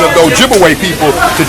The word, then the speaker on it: Ojibwe: And of course, they corrupted the pronunciation of the Ojibwe people to Chippewa. So Chippewa and Ojibwe, that's the same people. But Chippewa is the European corruption of their real name, Ojibwe.